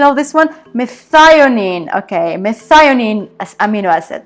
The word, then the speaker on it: methionine: Okay, so I just checked on Google to see the pronunciation of this one. Methionine.